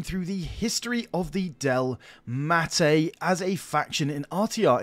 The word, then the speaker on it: Delmatae: So, yes, we're on to the Delmatae, not the Dalmete, the Delmatae.